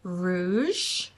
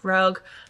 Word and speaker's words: Rouge: is next on my TBR and it is Rouge and my husband watches these videos and told me that I mispronounced this book in the last video and I said Rogue but I just want to point out if